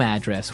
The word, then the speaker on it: address: So, different from your home address where you live. Yeah. And there the stress is on the first syllable. Address, right? Perfect.